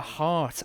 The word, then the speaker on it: Lahart: Lahart. I was pronouncing it very wrong in early access, let me tell you.